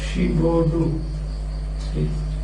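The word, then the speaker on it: Giraudoux: Again, it's pronounced like this. Gibaudou. That's how it is pronounced. Gibaudou.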